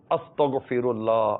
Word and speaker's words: استغفر: استغفر اللہ، استغفر اللہ، استغفر اللہ. غاف نہیں ہے، غین ہے. استغ نہیں ہے، استغ غین ہے.